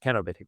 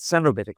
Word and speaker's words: cenobitic: The technical word for this is cenobbitic co or badly pronounced kenobitic would be better but cenobitic people say and and kenobitic comes